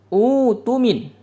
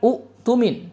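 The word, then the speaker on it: اؤتمن: Falyuaddilladzi tumina amanatah. Kalau kita ibtida menjadi utumin bukan umumin jadi diibdal dia.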